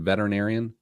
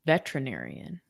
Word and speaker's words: veterinarian: Any of you guys struggle with saying the word veterinarian? I say veterinarian.